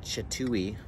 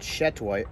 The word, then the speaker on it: Chateau: is algerian chateau chateau i was corrected on the pronunciation of it i was calling it chatui a while ago but chatoy oh my goodness look at